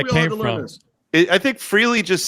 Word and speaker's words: Frehley: We pronounce Ace's name right on this show, kids. It's Damn it. Frehley. It's not Frehley. Yeah. It's Frehley.